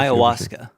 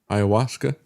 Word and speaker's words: ayahuasca: Aya Hayau, if I'm pronouncing that correctly. Do you know how that's pronounced rightly? Iawaska. Ayawaska. Yep. Is that it?